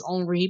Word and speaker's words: Henri: I mean, I am pronouncing the name of that hurricane as Henri because of the spelling, Henri, which is more the French spelling than the English one. Also helps my brain is currently in partially in French with a French and a Belgian runner. It is the current pronunciation.